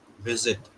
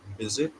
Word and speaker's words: visit: So V sound is created by biting the lower lip with your upper teeth. It's visit. Okay. If you Okay. If you say visit then it's V sound. It's not. Okay. Okay. Visit. Yes. Visit. That's the sound.